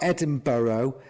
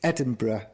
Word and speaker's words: Edinburgh: just americans in general it's not edinboro it's edinburgh oh i know that one